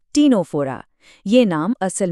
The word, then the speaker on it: Ctenophora: इसका साइंटिफिक नाम है टीनोफोरा। हां, सी से शुरू होता है पर सी साइलेंट है। इसका सही उच्चारण है टीनोफोरा।